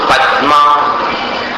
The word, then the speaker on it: पद्मा: पद्मा ये गलत है पद्मा अंदर समझे कि नहीं पद्मा पद्मा द जो है उसको पूरा नहीं होगा पद्मा ये द पूरा हो गया पद्मा ये आधा द हुआ तो आधे द का उच्चारण करना पद्मा करेशु जन